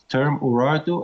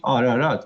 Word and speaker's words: Ararat: So it's a political issue, and I think Armenians should stop using term Urartu and call it by its real name, Ararat.